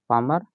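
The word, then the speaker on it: palmar: यह जो अलना और जो सीधे में अटैचमेंट है उसको बोलते हैं पामर अलना carpel ligament पामर L silent हो जाता है पालमर लिखा है पामर हो जाता है पामर अलना कोटल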